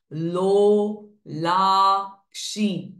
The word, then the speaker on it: लोलाक्षी: त्रिनयना लोला काम रूपिणी सो रु इज दीर्घ नी क्षी दीर्घ साउंड्स लो ला क्षी ऑल थ्री आर दीर्घ साउंड्स तेजोवति नयना लोलाक्षी काम